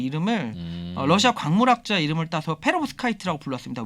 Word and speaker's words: 페로브스카이트: 발음이 맞습니까? 맞습니다. 페로브스카이트라고 얘기를 합니다.